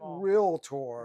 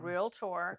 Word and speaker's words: realtor: So we need to pronounce it realtor. Realtor.